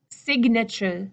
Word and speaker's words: signature: In the word sign, sign, the G and N, the G is gone. The G is deleted. Sign. But sig, signature, signature. Just a small point there about those different pronunciations.